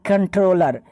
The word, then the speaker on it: comptroller: आप थोड़ा कंफ्यूज हो रहे होंगे कि COMP का उच्चारण और प्रोनाउंसिएशन कैसे कंट्रोल हो सकता है, कंट का उच्चारण कैसे आप कर रहे हैं। तो इतना समझ लीजिए, because it इज old spelling of कंट्रोलर बट न्यू कंट्रोलर spelling is CONTROLLER कंट्रोलर, but here is COMPTROLLER कंट्रोलर।